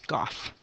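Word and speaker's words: g∘f: and we would say gough G composed of evidence and we pronounce it as Goff okay let's do just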